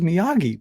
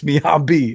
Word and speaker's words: Miyabi: I thought it was Miyagi, but it's Miyabi.